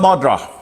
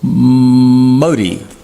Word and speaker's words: Modi: Narendra Modi, or Modi, I think is the way you pronounce it, M-O-D-I, the Indian Prime Minister.